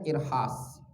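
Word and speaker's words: إرهاص: Itu namanya irhas. Irhas. Macam mana ejaan dia?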